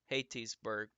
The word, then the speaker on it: Hattiesburg: Hattiesburg is pronounced Hattiesburg, by the way.